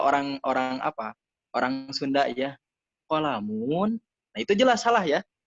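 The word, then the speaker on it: قَلَمٌ: Misalkan qalamun, qalamun, di qafnya ditekan, atau kitabun, bukan kitabun.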